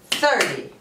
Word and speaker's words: thirty: These pairs, the biggest difference is the stress. So, we say 13, 13. But we say 30, 30. Okay? Here, the stress is on the second syllable. And here, the stress is on the first syllable.